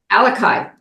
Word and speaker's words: Alaka'i: Alaka'i, is that the way you pronounce it? Alaka'i. Alaka'i Leadership Group, and I'm going to let you tell us about that, where that name comes from.